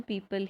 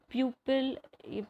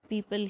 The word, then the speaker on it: pupil: होता है शिष्य, और इसकी भी प्रोनाउंसिएशन पीपल ही होती है। आप लोग इन दोनों शब्दों को अलग करने के लिए इस शब्द को प्यूपिल प्रोनाउंस करते हैं, जो कि रॉन्ग प्रोनाउंसिएशन है।